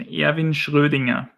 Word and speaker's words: Erwin Schrödinger: Yeah, so that's the pronunciation, Erwin Schrödinger.